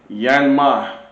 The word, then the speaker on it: YanMai: You seen mic and laying down is the um microphone by Yan Yan man that's how to pronounce his name. Yanmma Yanmma microphone.